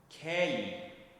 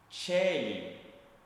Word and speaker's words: Caeli: juntaremos, ao invés de falar a, falamos e ou quando for uma sílaba tônica, né, que é o ponto forte na na palavra, falaremos e só que antes, claro, temos o cemar antes, eu não falei kell, mas Sim, Chelly.